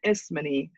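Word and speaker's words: Ismene: servants those are pretty obvious but antigon and isman are two characters at the end that I wanted to pronounce for you Antony and isman are edus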